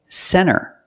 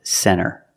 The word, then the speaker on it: center: When you see NT, a lot of times you don't hear the T. Example, center.